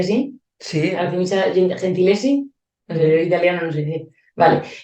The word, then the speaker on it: Artemisia: que me gusta mucho que es artemisia se pronuncia así sí artemisia gentiles italiano no sé vale Y es que